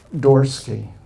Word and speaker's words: Dorsky: His name is Nathaniel, I'll say it right, Dorsky, Nathaniel Dorsky.